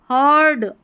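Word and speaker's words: heard: इ और अ यहां पर जो है इसको अ करके पढ़ेंगे। यह बन गया हमारा हीड नहीं पढ़ेंगे। हर्ड अ इ ए का उच्चारण अ है यहां पर इस स्पेलिंग में हर्ड a loud O यू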